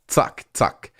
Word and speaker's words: zack: You would pronounce the Z as a T-S.